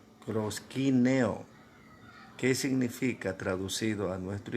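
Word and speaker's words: προσκυνέω: adoración en griego no es cierto que se pronuncia proshkin eo que significa traducido a nuestro idioma postrarse y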